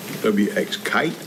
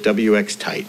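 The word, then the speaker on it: WXTITE: WX Kite? Tight. W-X-T-I-T-E. And they pronounce it WX Tight because I asked.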